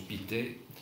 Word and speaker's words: Pictet: Il est heureusement ou malheureusement, je ne sais pas, très proche d'un de ses oncles, Adolphe Pictet, on prononce Pictet, qui est un littéraire assez connu et qui va publier d'ailleurs des idées parfois un peu saugrenues sur les Indo-Européens.